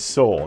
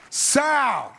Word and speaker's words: Soul: mine is soul yeah it's soul not the way tracy morgan pronounced it and the golden globe goes to south this movie really